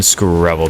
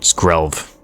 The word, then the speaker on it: Skrelv: but it's okay getting Scrabble down skrelv eh I keep saying it wrong Scrabble scrub cut down all the same okay we're gonna get